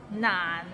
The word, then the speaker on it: 難: 難 is not難 it means difficult and it's difficult to pronounce, so it starts with n and ends with another n. 難 and it's in a low tone, so 難.